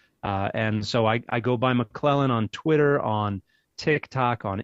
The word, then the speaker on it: McClellan: It's pronounced McClellan, just like my last name, but it's spelled M-A-K-L-E-L-A-N. That's a phonetic spelling of my last name that I used when I lived in South America.